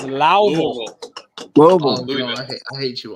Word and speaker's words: Louisville: Louisville. It's Louisville.